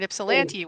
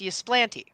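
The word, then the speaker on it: Ypsilanti: So I live in Detroit and the festival is over here in Ipsellante which is not pronounced Ylanti.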